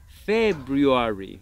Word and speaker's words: February: February. Súper bien. Ahora, vas a notar que mucha gente no pronuncia la R. Muchos hablantes nativos no dicen February, dicen February. Así que eso también lo puedes hacer.